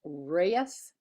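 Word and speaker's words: Ruyes: podium by the way my name is r-u-y-e-s pronounced Reyes hi thank you very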